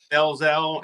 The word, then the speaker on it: Delzell: Delzell, either way, man.